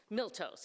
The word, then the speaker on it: Miltos: For anyone else, it's like Milton, but there's no N, there's an S. Miltos.